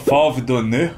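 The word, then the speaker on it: Fauve d'Or: não fala de novo FV Don você fou donor donor donor FV donor acho que o r não pronuncia viu geralmente não pron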